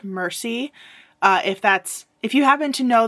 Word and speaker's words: Mercy: character's first name because it's spelled like the word merci in French, which means thank you. But as far as I can tell, based on how other characters were interacting with her and some of the way the dialogue was worded, I believe her first name is pronounced Mercy.